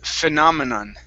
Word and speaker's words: phenomenon: This big one here, it's pronounced phenomenon. Phenomenon. Phenomenon. Okay, end that with an N sound instead of an M as in mom.